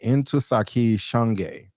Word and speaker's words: Ntozake Shange: Ntozake Shange. Yes, I wanted to get the pronunciation right. Ntozake Shange.